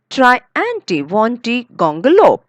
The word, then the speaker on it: Triantiwontigongolope: We say we break it into many parts. Okay. And we say try, try anti wanty, try anti wanty gongolo.